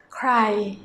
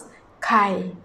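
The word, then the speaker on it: ใคร: That is with an R sound, but the people in general, they pronounce ใ ค ร . ใ ค ร . You have to bear in mind that Thai people have a problem about roaring the tongue.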